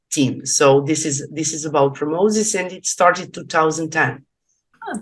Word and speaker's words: PromoZiS: So how do you pronounce that? PromoZiS? PromoZiS. Okay. PromoZiS. Okay.